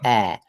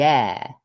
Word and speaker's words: air: to sound, the word air, which is not quite right. And you're thinking of it as being pronounced something like this word, ear, right? We're not saying the ear, we're saying the air, okay?